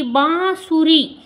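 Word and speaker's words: बाँसुरी: अब आप इसकी प्रोनाउंसिएशन जब निकालेंगे तो आप ध्यान से देखेंगे कि बांसुरी, जो चंद्र बिंदु की आवाज आ रही है किस पे आ रही है? बा पे। बांसुरी।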